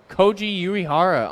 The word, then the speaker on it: Koji Uehara: for the Red Sox number 2 2 99 Koji Uehara on card autograph for the Red Sox Kochi a great job with the pronunciation thank you I did travel to Japan